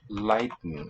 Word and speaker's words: lighten: or to lead exactly en in the spelling but a weak syllable there lighten and the t not really released at the tongue tip more of a glottal stop for me in my speech lighten like we do in english 2 and button similar